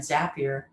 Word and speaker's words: Zapier: couple using automation and zapier which rhymes with happier uh is a perfect